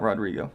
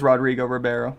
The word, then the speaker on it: Rodrigo Ribeiro: Not Rodrigo. It is Rodrigo Ribeiro.